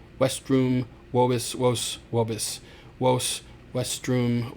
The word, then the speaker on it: vestrum: I generally just have my students just do westrum. And yes, I know it sounds like maybe have a speech impediment. I did when I was in the third grade, and I could not pronounce my R's, and that's exactly how